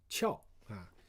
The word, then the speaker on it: 壳: Chao is a second pronunciation of this character. Now, Chao, when you say Chao, it also means shell and hard surface. Okay, hard surface. Basically, the concept is the same kind of thing, same kind of meaning, but it just by convention, pronounced differently in different cases.